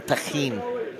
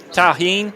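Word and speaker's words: tahini: Feel like a gringo at a Mexican restaurant saying, "Hey, I'd like some taheen." That's not how you say it though at the restaurant. How do you say it? Tahin.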